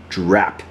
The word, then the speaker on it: Drapt: is for net Navia drap yeah I know it's felt dr a TP but everywhere i've looked online it says drap is the proper way to pronounce it this is a like